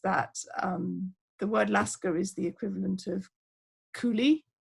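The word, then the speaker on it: lascar: the word um that in english it would be pronounced like laska and it was associated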